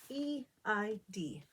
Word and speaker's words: Eid: but first i want to talk about eid e-i-d what does that mean eid in arabic means festival or holiday what a